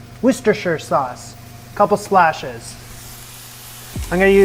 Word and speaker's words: Worcestershire: to you guys i know now how to pronounce this it's called worcestershire worcestershire sauce couple splashes i'm going to use a